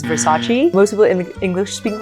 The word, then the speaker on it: Versace: So the heaviness is on the sa, and then again the CE is a che. So it's not Versace, which is actually what a lot of Chinese people think it is initially. They're like, oh, is it Versace? And it's not what actually most people call it, which is Versace.